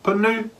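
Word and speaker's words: pūnu: You then have a spoon, which is a punu, punu with a toitoa on the U, punu, punu.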